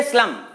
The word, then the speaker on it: स्लम: स्लम का मतलब होता है झुग्गी बस्ती, अंग्रेजी शब्द है ये स्लम। तो यहां पर सीधा स का उच्चारण हुआ है।